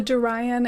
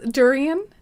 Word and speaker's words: durian: The end of the durian is pronounced like the end of Julian. So it's durian?